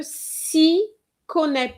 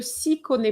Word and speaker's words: s'y connaît: Quand on ne s'y connaît pas. Okay? The Y here is is there. I didn't always hear it. Quand on ne s'y connaît pas.